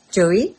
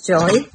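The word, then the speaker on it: Joie: how it's pronounced j-o-i-e some people pronounce it as Joey some people pronounce it as Joy um I naturally tend to say this during whatever it is it's a Joey I I spin 360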